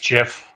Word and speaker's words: Geoff: Yeah, it's actually pronounced Jeff, Oh, Jeff.